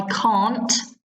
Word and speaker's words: can't: Notice the difference in pronunciation. I can't, long sound, stand eating early in the morning. Can, short sound. Can you?